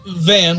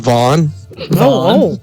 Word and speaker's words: Van: so Van, what are you doing now? It's pronounced Vaughn.